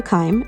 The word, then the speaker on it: Keim: Amazon and Kindle I'm the author Dr Kim and that's spelled k e i m you can also